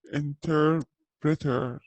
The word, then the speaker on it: interpreter: Okay, so we have a pilot طيار an interpreter ما يختلف نطقها في بريطانيا عشان الآر ما ينطقوها so interpreter a nurse chef accountant a journalist a postman an architect a shop assistant.